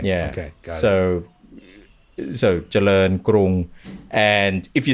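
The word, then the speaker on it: กรุง: Got so Charoen Krung. And if you say it like that, you'll get it. It all comes down to this aspiration as well. If people see Krung, many will say Krung as well.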